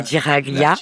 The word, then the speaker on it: Giraglia: Derrière nous, il y a le phare et l'île de la Giralia. Ah, ça, j'aurais pas su le prononcer. Donc, la Giraglia.